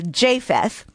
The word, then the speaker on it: Japheth: and i am correcting i had mispronounced japheth it is with the long a japheth and noah's three sons